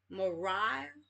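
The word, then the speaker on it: Moriah: Mariah.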